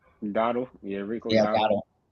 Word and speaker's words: Dowdle: Dowdle? Dottle.